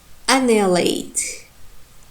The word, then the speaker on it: annihilate: So, and we have another word like annihilate. Annihilate. Here you can see that annihilate. In the first, in the second syllable, ni, we have primary stress.